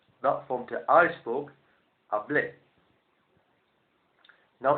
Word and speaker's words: hablé: need to do is to change the ending, but at the same time stress the last syllable. He, she, it spoke, you spoke, formal one person, habló, I spoke, hablé.